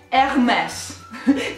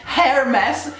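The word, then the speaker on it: Hermès: pronuncia ok la pronuncia corretta è hermes questa era che ovviamente procede il nostro pronunciare parola h è silenziosa quindi tutti gli inglesi e gli americani che pronunciano hermes sbagliano la cam o si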